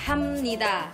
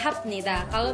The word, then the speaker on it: 합니다: Because you write out “hapnida” but pronounce it as “hamnida,” so I think that’s really interesting.